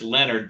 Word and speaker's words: Leonhard: Jim Leonhard is how his name is spelled. I'm sure it's Leonard, but never heard of this cat.